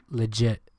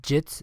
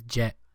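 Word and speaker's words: Sebastian Le Get: in the 40th minute there's no way his last name is legit it is actually I actually have his jersey yit legit that's how you I how you pronounce it legit yeah insane sorry continue instead of jits it's jet but I mean these are were sounds the same uh we also had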